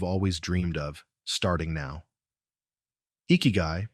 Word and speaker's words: Ikigai: Ikiguy, pronounced eeky, is a Japanese concept that marries iki, life